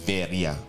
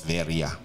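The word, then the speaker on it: Sverige: very Ge yun yun pero ang pronunciation pala non Pag binasa mo pala yun sa Swedish is veria yun po yan mga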